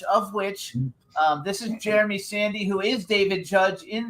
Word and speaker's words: Sandy: Is that how you pronounce your last name, Sandy? You got it right.